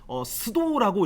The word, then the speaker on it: pseudo: 여기서 P라는 거는 PSEUDO 스도라고 읽거든요. 일본 말인가?